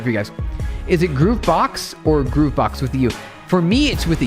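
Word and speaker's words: gruvbox: G R U V B O X is supposed Groove Box.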